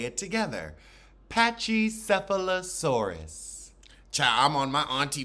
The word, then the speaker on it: pachycephalosaurus: dinosaur and now I'm looking up how to pronounce it so we open with candy on her patchesphalosaurus that's the headbutt dinosaur patchy cephalosaurus let's say it together patchy cephalosaurus cha I'm on my auntie Bev today apachycephalosaurus